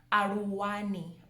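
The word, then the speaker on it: Aluwani: It has the LU. So I know some people struggle with the L sounds. So some people might make it sound like an R, but it's Aru, Ru, Ru, Ru.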